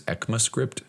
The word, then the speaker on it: ECMAScript: We're now on ES6, which is ECMAScript. That's how you pronounce it or say it.